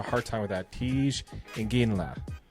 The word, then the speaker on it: Iginla: Tej Iginla. Iginla? Did I say it right? Sounds right to me. I've heard it both ways. It sounds how it's spelled. Exactly, which is really hard to say.